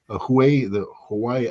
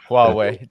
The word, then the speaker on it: Huawei: Hawaii, I can't pronounce that word. Daddy, help me out here. Huawei, just Huawei.